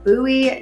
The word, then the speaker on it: Bowie: Another thing that I want to talk to you about is Bowie Nature Park.